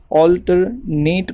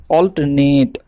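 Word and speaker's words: alternate: फर्क करने के लिए हम अल्टरनेट को दो तरह से प्रोनाउंस करते हैं पहला तो इस तरह करेंगे अल्टरनेट यह होता है वर्ब के लिए होता है वर्ब के लिए इनके बाद हम khinchenge अल्टरनेट इस तरीके इस तरह से और जब हमें एडजेक्टिव के लिए प्रोनाउंस करना है तो इन के बाद हम जल्दी से पढ़ेंगे जैसे अल्टरनेट अल्टरनेट अल्टरनेट इस तरह इसकी मीनिंग क्या है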